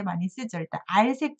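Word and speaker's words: 閼: 문문에다가 어조사 어자가 알 발음이 됐습니다. 좀 특이하지만 억울하지만 어 발음 아니고 알자고요.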